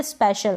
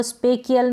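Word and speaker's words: special: इसको हम पढ़ेंगे स्पेशल, क्या पढ़ेंगे, स्पेशल। अब इसको स्पेकियल नहीं पढ़ेंगे, स्पेचियल नहीं पढ़ेंगे, अगर आपने रूल सीख लिया होगा तो।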